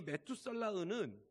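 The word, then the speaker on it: מתושלח: 이 무드셀라란 히브리어로 메투살라흐거든요. 좀 이름 발음하기도 힘들죠, 메투살라흐. 근데 이 메투살라흐는 무슨 의미가 있냐면 두 단어가 합해졌어요.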